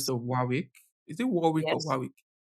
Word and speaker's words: Warwick: Is it Warwick or yes, Warwick? Warwick. What? If this was Unilag now, it would have been very easy to pronounce.